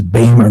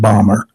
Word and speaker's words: Bamer: This is just total aside, but he's always told me his name is Bamer, not Bomber.